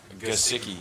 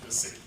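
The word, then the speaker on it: Gesicki: Pronunciation on the last name? Gasicki. Gasicki. Yeah, Gasicki.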